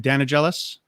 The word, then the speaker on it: Danigelis: And Rebecca, I forgot to ask you this: is the pronunciation of your last name Danigelis? Wow. Okay. Good. Close enough, right?